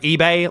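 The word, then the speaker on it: Ibai: me in the comments I think it's pronounced eBay like eBay like like like the website eBay he is if you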